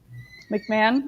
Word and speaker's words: McMahon: I'm McMahon. McMahon. Okay. Yeah, that's how I've always heard it pronounced.